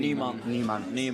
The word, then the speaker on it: Nyman: Is Nyman the pronunciation? Niemann. Yeah, we are That's in the Sweden. pronunciation, yeah. It means new man.